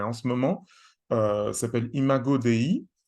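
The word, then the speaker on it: Imago Dei: ce moment euh s'appelle imagoi ça s'écrit comme ça se prononce donc i m a g o d e I qui a une expression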